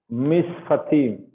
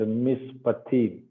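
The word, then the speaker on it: מִשְׁפָּט: Okay, mishfat and mishpatim. So here this is pay. There is a dagesh inside, so you have to pronounce it with a pa sound, not fa sound. It should be pa sound.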